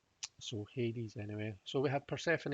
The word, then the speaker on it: Hades: one up actually all right okay that says hades and it appears to be spelled a or